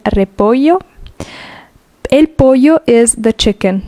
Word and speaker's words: repollo: Double L is y. El repollo.